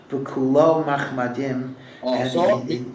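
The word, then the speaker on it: וְכֻלּוֹ מַחֲמַדִּים: Pero tingnan natin ano ang proper pronunciation sa Rabbi. This is from the Song of Songs. And it says, Chikau Mamtakim. It's describing a relationship with God. His palate is sweet. V'kulo machmadim.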